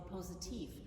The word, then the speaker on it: Positiv: On an English or American organ, it's called the choir, and on a German organ, it's called the positiv, which is spelled like positive.